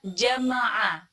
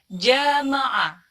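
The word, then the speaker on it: جَمَعَ: Ini ada kata jama'a yang artinya mengumpulkan, tapi kebanyakan orang membacanya jamaah.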